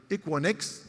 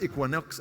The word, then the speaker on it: Equinix: And also, we have to partner with Equinix, not Equinox of Avaya.